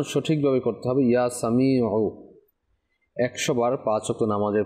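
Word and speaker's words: يا سميع: পাঁচ ওয়াক্ত নামাজের পরে ইয়া সামিউ এখন ইয়া সামিউ এমনে পড়লে তো লাস্টে যে আইন রয়েছে আইনের উচ্চারণ হবে না হামজার উচ্চারণ হয়ে যাচ্ছে উচ্চারণ সঠিক ভাবে করতে হবে ইয়া সামিউ 100 বার পাঁচ ওয়াক্ত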